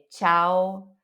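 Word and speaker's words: ciao: muda a palavra imagina cau O que que é Cau agora tchau Você já sabe o que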